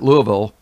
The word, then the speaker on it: Louisville: The Museum of Science in what they call Louisville, Kentucky, spelled Louisville, but everybody pronounces it Louisville, had a giant skeleton on display, and then it's been removed.